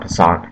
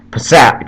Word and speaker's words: Passat: tahoe volkswagen gets punchier sorry not passant passat gets punchy with abt